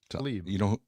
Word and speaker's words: Tlaib: How do you pronounce, John, are you there? Yeah. Republican Rashida Tlaib? Tlaib.